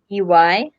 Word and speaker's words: Dombey: It is Dombey. Dombey, B as in boy, EY.